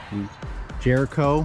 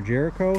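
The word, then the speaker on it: Jrco: attachments for mowers called Jr Co Jericho for you know lack of a better way to pronounce that most people call it Jericho but they make a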